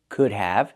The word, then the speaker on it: could have: Remember the L is silent in could. And the contraction sounds like this. Could have. Use the H sound like cup and up plus the VV sound like in Victor.